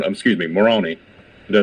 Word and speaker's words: Moroni: Joseph Smith um is towed by the angel Morana excuse me Moroni did I say it correctly morona macaroni ma